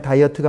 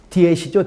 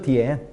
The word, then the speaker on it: diet: 한국어 발음으로 하면 다이어트가 뭡니까? DIET. 원어 발음으로 하면 디엣이죠, 디엣.